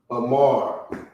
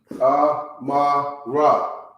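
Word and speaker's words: אמר: Amar. Amara. But that's not how you pronounce the word.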